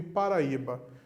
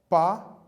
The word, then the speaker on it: Paraíba: paraíba certo e pare pronuncie pausadamente comigo paraíba para paraíba reparou aí ficou isolado